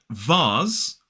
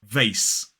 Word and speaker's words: vase: And in a modern British RP accent, we pronounce that S as Z, whereas in American English it's S, the unvoiced S.